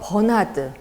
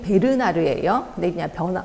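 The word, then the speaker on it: Bernard: 학자들 쭉 있는데이 중에서 버나드 정확히 발음이 베르나르에요 변화드라고도 나오더라고요 b라는 거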